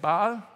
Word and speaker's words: Baal: Uh the god called Baal or Bal. How do you say it? Bal.